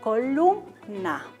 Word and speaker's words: columna: Y tenemos otro ejemplo, la palabra columna. Entonces, ¿dónde está la mayor elevación? En lum, ¿no es verdad? Columna.